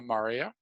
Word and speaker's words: maria: i'll throw around so we have the lunar maria i know it looks like maria but it's pronounced mari singular as mare and that is